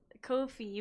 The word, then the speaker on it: Ko-fi: Ko-Fi made a tweet, they said Ko-Fi rhymes with low fee.